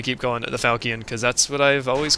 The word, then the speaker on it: falchion: But I think it's actually pronounced like Falchion or like Falchion or something. I got that the CH is supposed to be a sh sound instead of the ch sound, like the softer one.